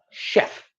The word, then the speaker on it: chef: And our final essential word, chef. And again, I have written it out phonetically for you.